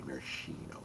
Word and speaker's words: maraschino: You got to say it like you're drunk already. Marishino.